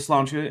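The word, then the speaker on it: sláinte: nice um and yeah I'm going with slancha and not the actual Irish pronunciation because um I don't know how to falize all of those sounds effectively so I'm not gonna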